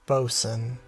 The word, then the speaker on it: boatswain: I hate that it's that's boatswain but it's pronounced Boson stupid boat terms oh